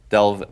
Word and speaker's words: DELV: DELV, by its phonetical pronunciation, is doesn't need an E.